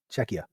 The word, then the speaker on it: Czechia: Shea. Okay. Thank you. What is also made in Czecha on this podcast?